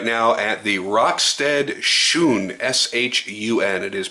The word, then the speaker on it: Shun: we're looking right now at the rockstead Shon s h u n it is pronounced shun uh it is a 4 in